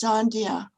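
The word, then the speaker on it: Sandhya: oh sorry um my my name is pronounced sandia and it means yeah it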